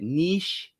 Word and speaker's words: niche: you might say it there's a couple different ways to say it nich or Niche and I don't really know what is the right way to say it in my in my mind when I read it I say Niche just a full disclosure but I know a lot of people say Niche but either way however